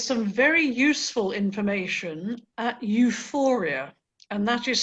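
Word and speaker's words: EUFOREA: scanning please there's some very useful information at euphoria and that is spelled e-u-f-o-r-e-a it's the european forum on chronic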